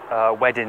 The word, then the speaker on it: Wedding: central Berlin it's felt wedding in English but the W's and Germany are pronounced like a V town of Verdun we